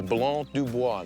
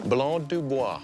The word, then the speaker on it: Blanc du Bois: This is Blanc du Bois. That's the name of this grape. Blanc de who? Blanc du Bois.